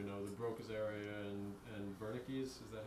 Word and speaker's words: Wernicke's: It doesn't have the language areas, as far as we know, the Broca's area and Wernicke's. Is that how you pronounce it? Anyway. Yeah, that's right. Wernicke's area.